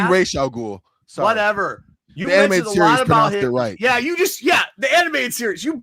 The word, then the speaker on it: Ra's al Ghul: You mentioned a lot of stuff about Raza, which is in way far. It's actually Ra's al Ghul.